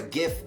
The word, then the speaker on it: GIF: were an emoji or a gift or a Jif if you're a weird person that pronounces it that way what would it be